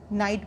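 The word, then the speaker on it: knight: KNIGST, तो इसको हम नाइट ना बोल करके क्या बोलेंगे, नाइट बोलेंगे, इसमें के इज साइलेंट, तो नाइट और इसका साउंड भी क्या होगा, नाइट, तो साउंड इज सेम।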